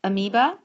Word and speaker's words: amoeba: clear our amoeba occasionally you may see this written without the o either way it's still pronounced amoeba you have the parium